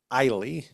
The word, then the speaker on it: Eiley: Everyone calls her Eiley. Eiley. Which I am going to say, I'm going to pronounce, I'm sure it's Ellie 1,000 times this episode. But just when I do that, just know it's Eiley.